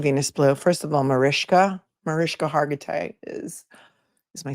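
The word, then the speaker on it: Mariska: Um, and her name is pronounced Marishka.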